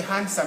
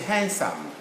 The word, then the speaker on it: handsome: say handsome no it's not a handsome it's a handsome d silent handsome handsome anyway we